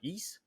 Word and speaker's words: Ys: Well, in case you're Mm. wondering, East it's spelled YS, so capital Y and then small letter S.